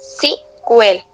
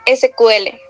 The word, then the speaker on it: SQL: por eso a veces se pronuncia CQL en inglés, ¿verdad? Justo, pero en español lo más común es decir SQL. Ambas están bien.